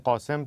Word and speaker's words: قاسم: که مجریا و خبرنگارها از قاسم رو قشنگ قاسم تلفظ میکنن.